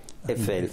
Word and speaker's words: Eiffel: La cosa altrettanto curiosa è invece da sottolineare come Eiffel, ecco, mi viene da pronunciarlo la francese perché i francesi la pronunciano senza la I, Eiffel.